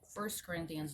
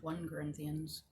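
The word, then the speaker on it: 1 Corinthians: break first corinthians oh that's how you say it first corinthians not one corinthians first corinthians first corinthians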